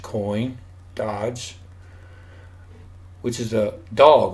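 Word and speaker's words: דג: The Hebrew word for fish in this passage Strong's 1709 dag, which is pronounced dog.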